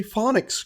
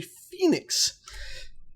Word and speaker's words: phoenix: I, didn't really realize how to say phonics correctly, or should I say phoenix?